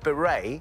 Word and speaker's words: beret: When referring to the round, flat-crowned cap, the word beret ends with which silent letter?